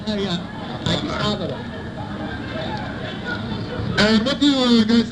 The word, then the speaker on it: Addis Ababa: Okay, I can't pronounce it right. Oh yeah, Addis Ababa.